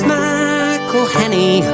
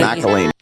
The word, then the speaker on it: McElhenney: It's McElhenney, what ways to massacre and mispronounce it, there are many. McElhenney.